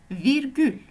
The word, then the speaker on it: virgül: La virgule en langue turque, c'est virgule. Je répète, virgule. Alors, comme vous le voyez, la prononciation est presque la même. C'est juste qu'il y a le R roulé en langue turque.